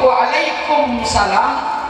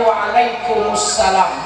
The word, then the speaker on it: Waalaikumussalam: salam asalamualaikum warahmatullahi wabarakatuh kalau dijawab Waalaikumsalam kurang teat iya mimnya enggak boleh dimatikan mimnya enggak boleh disukunkan seharusnya jawabnya Waalaikumussalam bukan Waalaikumsalam Ya mulai kemarin kita bisa